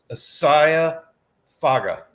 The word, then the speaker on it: Isaia Faga: There's no N in there. Like I thought there was an N that you said in there. No, there's not. Isaia Faga.